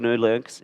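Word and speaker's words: GNU/Linux: program such as Linux the GNU Linux is the correct way to say it and respect to Richard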